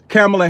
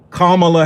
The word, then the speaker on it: Kamala: I just thought Kamala was Kamala, just like Pama is Pamela.